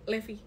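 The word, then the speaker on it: levy: lagi pajak dan eh Lev bacanya Levi atau Lev Levi Levi itu biaya yang kamu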